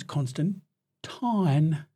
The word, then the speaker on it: Constantine: It's probably my favorite non kind of The original British pronunciation is Constant Tine.